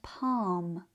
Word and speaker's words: palm: The L is silent, but it changes the vowel sound, making it longer and deeper. This also happens in words like calf and palm.